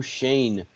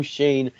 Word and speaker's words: Schoen: manager it is joe shane we finally got his name right this time we know how to say it joe shane former assistant dm of